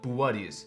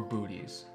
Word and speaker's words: Boötes: Well, first off, it's pronounced Boötes, not boots or booties.